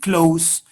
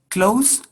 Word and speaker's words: close: Close is the same word, but one is a verb and the other is an adjective, and the pronunciation changes. Close, close. You write in the same way, but you pronounce in two different ways, with the sound s and the sound z.